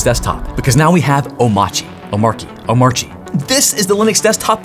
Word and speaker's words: Omarchy: The way I pronounce it is Omarchy. Right, Omarchy.